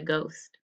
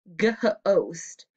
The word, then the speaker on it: ghost: tap this word out ghost the h is silent we don't hear it this h right here